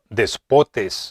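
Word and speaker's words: δεσπότης: Es la palabra griega que se pronuncia despotes.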